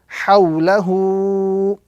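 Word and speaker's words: حَوْلَهُ: Ha, waw, sukun fatha gives us the sound haw, lam fatha la, and ha lengthening dhamma hu. So this word will be pronounced hawlahu.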